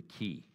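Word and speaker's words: qi: But most of those Eastern thought systems rely on something that the Chinese call the power of the ki. And the way you spell that is Q-I.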